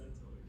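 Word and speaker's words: Setoid: What's a centoid? Why am I alone? I believe it's pronounced cetoid, and that's all I know about it.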